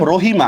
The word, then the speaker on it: রহিম: it clear বুঝতে পারছেন মনে করেন আমি লিখলাম রহিমা আচ্ছা আপনারাই বলেন রহিমা শব্দের মধ্যে কোথাও হসন্ত